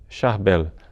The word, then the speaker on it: Charbel: arbelo macro mas é mais conhecido mesmo com o nome de charbel com a pronúncia é francesa que ficou um pouco é pulverizada no mundo inteiro são charbel macluf um